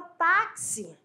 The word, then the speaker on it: táxi: Aí, pegando aqui o gancho, vamos para a palavra táxi. Pronuncia a palavra táxi. Táxi. O que aconteceu? Esse X que aparece na palavra táxi tem um som de KS.